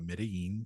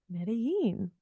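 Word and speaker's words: Medellín: let's explore Medellin Colombia I also pronounce it Medellin Colombia it's a mix of pronunciation but like when I was there I pronounced it Medellin but now when I'm back home I say Medellin how do the people who live there pronounce it but I feel like if you like speak Spanish that's how it's pronounced but then for English speakers more people were just saying Medellin or they don't say Medellin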